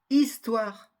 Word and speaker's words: histoire: frère final jolie final aussi la lettre H aussi elle ne se prononce pas histoire horrible dehors elle a